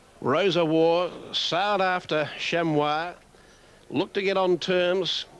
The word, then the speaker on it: Chamois: Kroger, who passed on the news just prior to the race that the preferred pronunciation is Chamois.